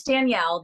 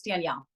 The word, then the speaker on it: Danelle: It's Danielle. A lot of people say it wrong because they pronounce it wrong because of the no I, but it's Danielle.